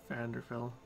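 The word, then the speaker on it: Vvardenfell: But a month ago, during our last raid in Vanderfell, I think it's Vanderfell, I think the first V is silent.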